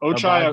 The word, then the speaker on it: Ochai: Am I Am I right in saying Ochai? I believe so. Ochai.